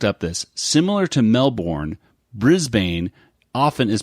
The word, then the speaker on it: Brisbane: guess is is just Brisbane is it just pronounced Brisbane or Brisbane I think brisban Brisbane and he was just mispronouncing it because he said put a e at the end brisban e no they just mispronounced